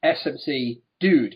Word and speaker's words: SmCDuDe: of days and they said his name is pronounced SMC dude and they wrote it as SMC Das dude